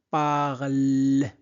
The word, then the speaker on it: parlent: Donc, camarade parle. E-N-T ne se prononce pas.